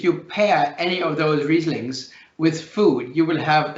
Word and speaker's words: Riesling: much for you perhaps if you can pronounce riesling that's obviously great that's sort of the entry card if you pronounce it riseling it doesn't matter because you have to